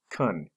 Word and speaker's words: can: more formal than can the word can can also be pronounced cun here three permission practice